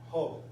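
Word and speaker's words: ὁ: Solamente el espíritu rudo altera, ¿verdad? O afecta la pronunciación. Cuando vean, cada vez que vean, ¿verdad? Pues en una vocal, el espíritu rudo, entonces se va a pronunciar, ¿verdad? Se le va a añadir una J a esa letra, ¿verdad?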